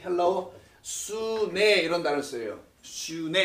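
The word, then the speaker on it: σύν: 슈네 이렇게 발음하는데 요 단어가 엘레오스에서 붙으면 엘레오 슈네가 돼요.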